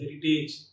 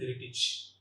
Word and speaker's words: heritage: Often we pronounce these two terms like courage and heritage. Age should not be the N. The N should be ij. Courage and heritage.